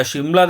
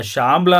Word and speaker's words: ಶಿಮ್ಲಾ: later on ಬ್ರಿಟಿಷ್ರು ಯಾವಾಗ ಈ ಒಂದು ಜಾಬ್ಕ್ಕೆ ಸಮ್ಮರ್ ವೆಕೇಶನ್ಗೆ ಅಂತ ಬರ್ತಾರೆ ಅವರಿಗೆ ಶಾಮ್ಲಾ ಅನ್ನೋ ಪದ ನೀಟಾಗಿ ಉಚ್ಚಾರಣೆ ಆಗಿದೆ ಶಾಮ್ಲಾ ಹೋಗಿ ಶಿಮ್ಲಾ ಆಗಿದೆ ಅಂತ ಇಲ್ಲಿನ ಜನ ಹೇಳ್ತಾರೆ ಸನ್ಸೆಟ್